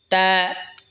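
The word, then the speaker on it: ت: এরপর এটা হলো তা। তা জিহ্বার আগা সামনের ওপরের দুই দাঁতের গোড়ার সঙ্গে লাগা উচ্চারণ হবে তা।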